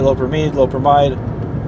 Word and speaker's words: loperamide: More technical term is loperamide. You might pronounce it lopramide.